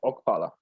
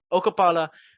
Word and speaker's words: Okpala: that believe that KZ, how do you say his last name? Okpala. Okapala. Why did I say it like that? Okapala. Okpala. Okapala. It's one word. It's one word. It's one last name. Okpala. There you go.